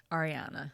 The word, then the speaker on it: Ariana: Not Ariana codian and am I pronouncing your name right Ariana Ariana okay thank you thank you for asking